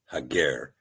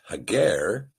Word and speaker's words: Hagar: Now in this particular passage the sepher uses the word hagar as compared to the name Hagar which has been a pronunciation given to us by the maseretic nicodote. We believe the proper pronunciation is hager again rightly dividing the word and in the